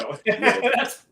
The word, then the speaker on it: Pisciotto: Did I say that right? Pisciotto. Pisciotto. Yeah. Okay. Tell you right there. That's how you say it. Just like, Pisciotto.